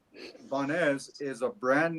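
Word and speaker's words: Banhez: Banes. Banes Mezcal is the artesanal. way, yeah, Banes. Banes. Yes, Banes. Banes. The H is silent.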